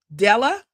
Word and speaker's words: Diella: Dallas, who's 11, Denver, who's 9, Della, but it's spelled Diella, who is 4, DJ,